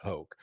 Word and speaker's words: Hoch: Still now people joke like, what rhymes with choke? Scott Hoch.